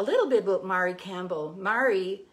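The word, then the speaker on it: Mairi: Mary is spelled M-A-I-R-I.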